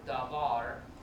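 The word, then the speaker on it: דָּבָר: We can see the word davar separated into two syllables. First one, da, and you see there's Dagish lene in it, or is it Begad Kafat letter? It's Begad Kafat letter, so it's Dagish lene, which means this is a rough d sound.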